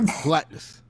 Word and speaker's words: Galactus: And a proper Galactus. Did I pronounce that right? Correct. Galactus.